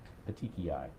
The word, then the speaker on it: petechiae: Or petechia, if I'm pronouncing it Petechiae? right. Petechiae.